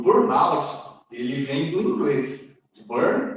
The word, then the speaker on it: burnout: Então, por aí eu já entendo que a pronúncia é voltada para o inglês. Burnout, do inglês, e não burnout.